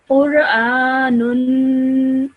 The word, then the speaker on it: Qur'anun: So over here, you would pronounce this normally as Qur'anun.